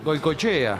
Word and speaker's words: Goikoetxea: Goychea. Goychea, exactamente, que no se escribe como el Goico nuestro, sino con X y un par de modificaciones.